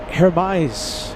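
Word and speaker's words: Hermès: Kevin Anthony says, "The fufu shishi pronunciation." Oh, come on. Uh, Hermise.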